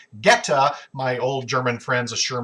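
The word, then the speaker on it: goetta: have come up with something called geta now it's spelled goe TTA if you're looking for it online but geta my old German friends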